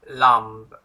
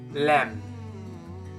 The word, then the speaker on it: lamb: this word or lamb it's wrong it's like the b is silent now i want you to pronounce this again but without b so it's going to be lamb lamb good okay moving